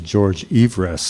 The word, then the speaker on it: Everest: Well, one of the funny things is that the actual pronunciation of George Everest was actually George Everest, so he was a cantankerous individual whose curse